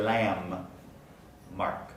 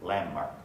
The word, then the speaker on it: landmark: consonants in a row the d in the middle of landmark doesn't get pronounced it was a landmark and then the n undergoes place assimilation so we actually say lamb mark landmark yokohama's landmark tower it